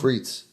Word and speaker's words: Frites: It's called Frights by Idaho. It's called the what? It's called Frights. Isn't that how you say it? Or is that wrong? Frites.